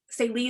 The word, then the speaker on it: Saelee: Salee is spelled Saelee.